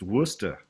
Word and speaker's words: Worcester: It's a common sight, that word, Leicester, and it's just pronounced different, as we call Worcester, Massachusetts, Worcester. It's like, that's it.